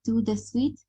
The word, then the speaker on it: tout de suite: Ici, on va prononcer tout de suite. D'accord? Pour parler comme un vrai natif, vous devez tout simplement prononcer tout de suite, comme ça.